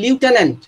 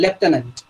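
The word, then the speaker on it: lieutenant: Pronunciation করি তাহলে হবে লিউটেন্যান্ট, যেটা মার্কিন ইংরেজিতে উচ্চারিত হয়, ঠিক আছে, লিউটেন্যান্ট, ওরা লিউটেন্যান্ট এরকম উচ্চারণ করে, কিন্তু ব্রিটিশ ইংলিশে কিন্তু লিউটেন্যান্ট বলে না, উচ্চারণটা হচ্ছে লেফটেন্যান্ট, ঠিক আছে, second লেফটেন্যান্ট ইন the Bengal engineers.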